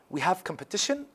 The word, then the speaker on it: competition: We have competition. The stress here is on the third syllable.